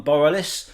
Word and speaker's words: Borealis: talking to Matt from Borealis is it borrow this is the name of the band borrow this is how you say it Borealis Borealis sorry okay